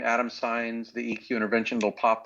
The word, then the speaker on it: Saenz: Adam and Eve but my last name is signs it's it's Spanish surname and it's spelled s's and sam a is an apple he is an elephant in is in Nancy and Z as in zebra signs and so if you